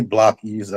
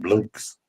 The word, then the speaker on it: blockies: And some people didn't know how to pronounce blockies. It's actually really blockies. I heard somebody call it blokes. Blokes or blokies. Blokies. Yeah, it's really blockies. I asked them directly.